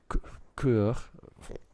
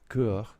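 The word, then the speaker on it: cœur: the word courage cur terrible French pronunciation kur which means heart okay okay that's the root of the word courage comes from the French okay Okay.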